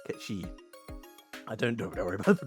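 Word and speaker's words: Cait Sith: no it's pronounced like k shei or something um thank you stream elements feel incredibly delayed response um yeah appar it's called like K like Ki it's like Celtic or something from Scotland which makes sense now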